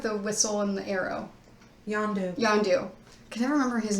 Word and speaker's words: Yondu: Not Zandu. The guy with the whistle and the arrow. Yondu.